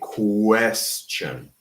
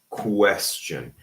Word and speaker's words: question: We don't say question, we say question. Question. And a lot of people unfortunately eliminate this U, but it shouldn't be eliminated. It has to be question.